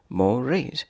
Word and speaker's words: mores: word is morage morage morise two syllables morise is a noun